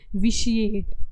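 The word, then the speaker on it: vitiate: 15th हमारा हो जाएगा इसको हम ना, जो ये टी वर्ड दिया हुआ है इसको हम बोलते हैं विशिएट। ओके, प्रोनाउंसिएशन थोड़ी ध्यान रखनी है साथ में, ताकि बोलते वक्त, लर्न करते वक्त आप गलत ना बोलें, ठीक है।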